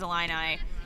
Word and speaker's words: Illini: I thought it was Illini. Illini. I'm going to go with you, Mary. USQ's former executive director, Sarah Woolsey, schooled me on the various pronunciations of teams in Illinois several years ago, and I believe it is Illini.